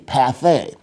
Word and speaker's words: pâté: And when you see the E with an accent aigu, you pronounce the E as a long A, pâté.